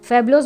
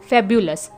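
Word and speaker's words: fabulous: जैसे इससे करेक्ट इसका प्रोनाउंसिएशन होता है फैब्यूलस, राइट, लेकिन कम से कम हमने फैबुलोस तो पढ़ा, तो वेरी नाइस।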